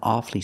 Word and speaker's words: awfully: it's very very difficult pronounce it with two syllables not awfully hard but awfully awfully hard and awfully sorry but